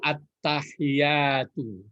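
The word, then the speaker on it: التحيات: kalau sambung Emang tool jadi attahiyatul ya bacaannya adalah ADB jadi baik membacanya bukan Al tapi ad masih ingat itu baratti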